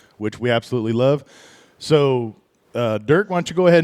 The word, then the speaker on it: Durk: Durk Stark, correct? Am I pronouncing your name correctly? You bet. Perfect. As long as you don't say it with an O, you're good to go.